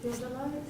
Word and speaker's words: theodolite: How do you pronounce it? Theodolite.